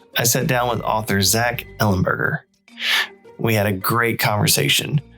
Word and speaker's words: Zach Ellenberger: So, today in the virtual studio, I'm joined by author Zack Ellenburgger.